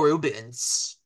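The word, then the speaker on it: Reubens: I think Pee Wee Herman is pretty awesome, and Paul Rubin was an amazing, amazing actor. Paul Rubens. Yes, Paul Rubens. I said it wrong. Yeah, Paul Rubens. I always forget the S.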